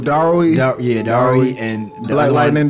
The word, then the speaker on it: Darui: It's between him and like Durai. I think is how you pronounce his name. Oh, Darui.